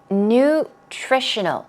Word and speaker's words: nutritional: here we go nutritional nutritional the stress goes right there on Trish nutritional means what we're